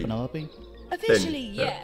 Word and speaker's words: Penelope: Ja, Penelope. Penelope? Officially, Penny, yeah. yes, but I never can be bothered with all 4 syllables of it.